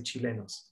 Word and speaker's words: Chilenos: In Spanish, we say Chilenos.